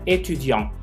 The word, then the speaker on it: étudiant: Entonces se pronuncia étudiant.